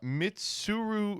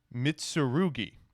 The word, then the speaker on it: Mitsurugi: card is tributed you can Target a uh mitsuru okay I'm just going to have to sit down and look at this mitsurugi there we go I have now mastered the